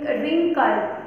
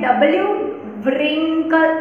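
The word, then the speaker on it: wrinkle: से स्टार्ट होते हैं, लेकिन वो हमें डब्ल्यू जो होता है वो हमें बोलना नहीं है, वो लेटर साइलेंट दिया गया है। डब्ल्यू आर आई एन के एल ई रिंकल, तो हमें डब्ल्यू रिंकल ऐसे नहीं बोलना है, रिंकल क्या बोलना है, रिंकल।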